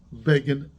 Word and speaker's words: Begin: here my name is and it does not rhyme with fagin that's what he said you could Google it I'm sure you can see it begin does rhyme with Fagan I I hate to